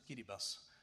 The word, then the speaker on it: Kiribati: Everything that is yellow is what I have now documented and especially Marshall Islands Kiribas Tuvalu they name this Kiribati but they pronounce it as Kiribas these are atal states